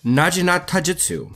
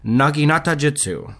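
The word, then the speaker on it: naginatajutsu: And after a quick Google search, I can confirm that the correct pronunciation is in fact Naginata Jutsu.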